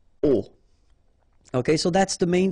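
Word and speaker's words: aux: And then A plus les will become O, A-U-X, but then remember that phonetically it's O.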